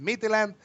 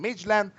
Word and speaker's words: Midtjylland: Midtjylland, however you want to pronounce it. I like to say it Midtjylland, but some of the people are saying Midtjylland against the Rangers.